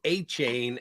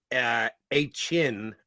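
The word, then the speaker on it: Achane: I was told it was A-Chain, and then somebody said afterwards it's A-Chin or A-Chin, not A-Chain.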